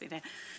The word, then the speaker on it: Veneta: They're out in Florence, or my hometown, Veneta. It's actually pronounced Veneta.